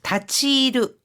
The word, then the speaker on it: 立ち入る: 立ち入る 다치르 이거는 출입하다, 어딘가에 들어가다라는 뜻입니다. 関係者以外はこの部屋に立ち入らないでください. 관계자 외에는 건호해안이 이 방에 다치이라나이데 쿠다사이 들어가지 마세요. 이때 다치하이르가 아니라 다치이르라고 읽는다는 거.